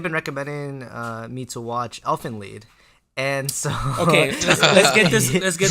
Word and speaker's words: Elfen Lied: Yes, because it's German, and IE in German is E, an E sound. So it's Elfen Lied. Yeah. All right. If people pronounce it Elfen Lied, that's wrong.